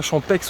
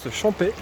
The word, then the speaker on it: Champex: Alors ici je suis à Champais, donc on écrit Champais avec un X mais on ne prononce pas Champex, on prononce Champais.